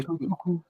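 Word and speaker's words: Tochukwu: to It's to Tochuku. Tochuku, right? Tochuku, Tochuku. Yes, Tochuku, it's Tochuku. Tochuku. Okay, Tochuku. Yes. Sorry, I mispronounced it.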